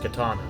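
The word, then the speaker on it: Qitana: matters such as the katana ravel oh it's pronounced katana all right you would better not have explored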